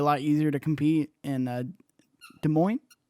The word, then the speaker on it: Des Moines: of West Des Moines how do you say Des Moines I know I'm messing this up I knew it before you said it was a morning right Des Moines Des Moines Iowa adds his first these points